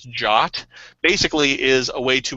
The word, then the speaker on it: JWT: JSON web web token or a JWT also pronounces jock basically is a way